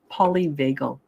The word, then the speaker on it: polyvagal: you're a therapist yourself um but it's called polyvagal Theory now polyvago theory polyvagle is spelled p-o-l-y for poly and vagal v-a-g-a sorry